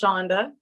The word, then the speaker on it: Chuanda: If you guys want to say Chuanda, that is the way it's spelled, but it is actually pronounced Shonda.